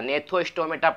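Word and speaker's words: Gnathostomata: ने था हो जाएगा इसमें जी पहले आ गया तो यह साइलेंट हो जाता ने थ्रो स्टोमेटा जाएगा यह साइलेंट हो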